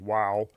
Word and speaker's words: Vav: So, He had the value of five, Vav had the value of six, or could also be pronounced Wow.